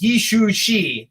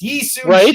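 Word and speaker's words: Yi Sun-sin: look at this and be like, it's Yi Shu Shi or Shu Shin Shi. Obi-Wan Kenobi is harder to pronounce than this. Yi Sun Shi is very simple, right?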